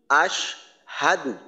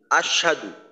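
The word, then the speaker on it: أشهد: পেশ দু আশ হাদু এইখানে অনেক সময় দেখা যায় যে আশহাদু না হয়ে এমন ভাবে উচ্চারণ করা হয় যে আশ সাধু অর্থাৎ সিনে তাসদিদের মত পড়া হয় হা এর জবরের উচ্চারণটাকে বাদ দেওয়া হয় অর্থাৎ হামজাদ শিন জবর আশ সিন জবর সা দ পেশ দু আশাদু এভাবে উচ্চারণ করা যায় করা হয় এইটা অবশ্যই করা যাবে না কারণ একটা হরফ ওই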